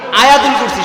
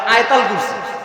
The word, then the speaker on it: আয়াতুল কুরসি: আমাদের দেশের অনেকেই এই আয়াতুল কুরসির সঠিক উচ্চারণটা জানে না, তারা বলে আয়াতাল কুরসি। কি বলে না? বিশেষ করে মহিলারা আয়াতাল কুরসি বলে কিনা? আসলে শব্দটা আয়াতাল কুরসি না, শব্দ হবে আয়াতুল কুরসি।